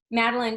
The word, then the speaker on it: Madeline: No, it's Madeline.